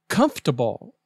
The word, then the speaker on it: comfortable: treaty word number 12 comfortable say comfortable not comfortable the oor is silent example here's another pillow